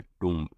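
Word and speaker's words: tomb: pergola third है आउ out house D है टम फ्रेंड्स इसको टी ओ एम भी लिखते हैं लेकिन प्रोनाउंस हमेशा टोम भी होता है टोम नहीं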